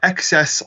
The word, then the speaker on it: XES: um Bob and frosty they went to uh excess Lounge it's spelled capital xes capital capital capital xes uh